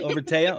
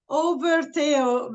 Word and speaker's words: Overteo: Okay, Overteo. Okay. And I'll tell you why. Overteo, because his name is Matteo, which is Matthew in English. Matteo, but is a big Overkill fan.